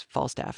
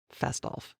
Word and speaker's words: Fastolf: I thought it was Falstaff until I went back and looked at the text. No, it's Fastolf.